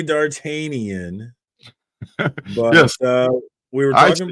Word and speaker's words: D'Artagnan: So what up to D'Artagnan or D'Artagnan? 3 Musketeers. Thank you, sir. Okay. So it's D'Artagnan. Yes.